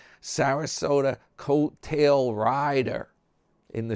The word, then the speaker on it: Sarasota: Your friend New York Dan, it's covering Tater and we'll be back to Sarasota rhymes with Yoda.